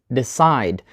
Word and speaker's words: decide: And the answer is decide. So we put the stress on the second syllable.